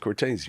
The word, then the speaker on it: Cortese: out of respect to my dad I'm gonna pronounce it Cortez you know and I had a conversation with